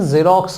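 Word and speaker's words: Xerox: एक्स से ये भी शुरू है लेकिन इसका प्रोनाउंसिएशन जेरोक्स होता है, ज, जो कि वॉवल में तो नहीं आता।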